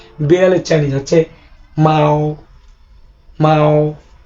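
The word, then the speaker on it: 猫: বিড়ালের চাইনিজ হচ্ছে মাও মাও। মাও এখানে বাংলা উচ্চারণ মাও।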